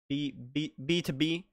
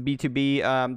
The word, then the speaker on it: BTOB: BTOB, if I remember right, that's how you pronounce it. The T-O is not T-O, it's two.